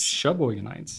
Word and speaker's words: Sheboyganites: and Some they were Sheboyganites. well, no, Sheboyganites. Sheboyganites. It's pronounced the same.